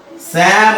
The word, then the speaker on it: Psalm: ध्यान देना जब हम प्रोनाउंस करते हैं सैम लेकिन लिखते हैं जब सैम वो अलग अलग हो रहा है। हाँ हम बोल रहे हैं शाम या सैम लेकिन जब लिख रहे हैं पी पहले लिख रहे हैं, लेकिन जब हम प्रोनाउंस कर रहे हैं तो ये पी साउंड नहीं आ रहा है, साइलेंस हो जा रहा है।